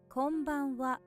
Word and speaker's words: こんばんは: Watch out for that wa on the end or ha on the end, which is pronounced wa here.